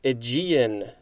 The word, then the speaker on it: Aegean: g e a n this is aegean that is i believe what it is saying in the pronunciation but also i'm familiar